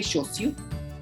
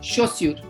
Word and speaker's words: chaussure: So anyway, so that's why we call it les chaussures. So les chaussures, les chaussures, chaussures. Look at whenever AU is together in French, it is always the pronunciation is O.